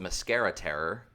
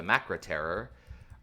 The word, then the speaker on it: The Macra Terror: animated uh this one I always want to pronounce the mascara Terror but it's the macra terror early Patrick trouton story